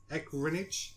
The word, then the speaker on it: Ehrenreich: How do you pronounce his name? Ehrenreich.